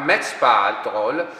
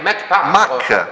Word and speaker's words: Mach Patrol: Dunque, se noi pronunciamo Match Patrol, dovrebbe essere scritto M-A-T-C-H. Se noi pronunciassimo Mach Patrol, in realtà la dizione corretta sarebbe Mach Patrol. Perché è Mach 1, Mach 2, esatto.